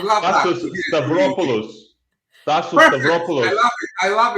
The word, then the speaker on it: Stavropoulos: Stavropoulos, Tassos Perfect.